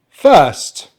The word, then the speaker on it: first: so let's get going first now as this is british english we're not going to pronounce the letter r here as it's not followed by a vowel sound so there's just one long vowel sound in the middle that we really need to concentrate on and this